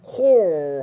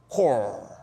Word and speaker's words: corps: 얘는 core 하면서 P하고 S가 다 묵음이야. 네, core.